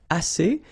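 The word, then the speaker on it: assez: a means enough okay a remember two vowels here a and then uh and then double s so it's really strong the s a a okay a say so same construction the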